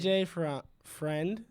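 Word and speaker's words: AJ Freund: AJ Friend. That's how it's pronounced.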